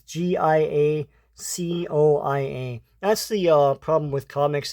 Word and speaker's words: Giacoia: This cover art is by Rich Buckler and Frank Giacomo. I don't know how to pronounce that. It's Giacoia.